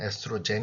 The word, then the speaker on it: 에스트로겐: 이력 얼음 5 놈은 에스트로겐과 프로게스테론이 라는 것이 있는데 에스트로겐은 독일식 발음 그런 에스트로겐 영어로는 에스트로젠 이라고 하기도 합니다 그래서 대표적인 여성 호르몬